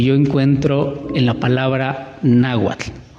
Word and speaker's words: náhuatl: Pero entre nahual y náhuatl o náhuatl, en primera, náhuatl lleva acento en la A, en la primera A, na, y tiene terminación TL, náhuatl.